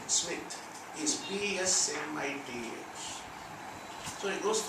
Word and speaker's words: Psmith: Spelling of his name, Smith, is PSMITH.